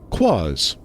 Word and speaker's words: Quaz: Quaz, a noun, both singular and plural, referring to anything strange, incongruous, or peculiar. At its heart is the unknown, the mysterious. It rhymes with Oz.